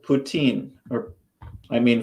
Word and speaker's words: poutine: putin actually it's spelled poutine or i mean french would pronounce it putin uh poutine sadie has